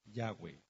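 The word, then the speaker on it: Yahweh: Nosotros le deseamos que usted pronuncie el verdadero nombre yahwe Yu Que guarde el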